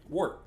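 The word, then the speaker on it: Wort: Wart. When I think Wart, I'm thinking Super Mario Brothers 2. Nope, it's spelled differently.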